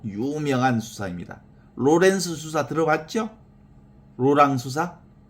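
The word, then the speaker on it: Laurent: 그 하느님의 현존을 가장 극적으로 잘 실천한 인물 중에 하나가 바로 17세기 깔멜 수도원의 그 부활의 로랑 블란스어로는 로랑이라고 하고 영어로는 영어식 발음으로는 로렌스 수사라 그러지 로랑 수사 또는 로렌스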